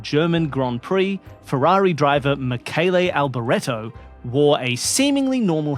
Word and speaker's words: Michele: It's like Michelle, but presumably in a masculine form, and pronounced Michele.